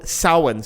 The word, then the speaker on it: Samhain: But it comes from the ancient Celtic tradition of Samhain. Samhain's not spelled like you think it is, unless you're Irish, in which case you know, but Samhain's spelled Samhain.